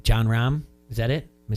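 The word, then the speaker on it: Jon Rahm: It's stories like I think it's John Rahm.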